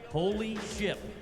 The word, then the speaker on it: Holy Ship: Holy ship. What? Pronounce it with a P at the end.